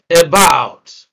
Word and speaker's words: about: determine stress is that when you have a two syllable word that begins with a prefix for instance then you are almost always sure that stress will be on the second syllable except in certain uh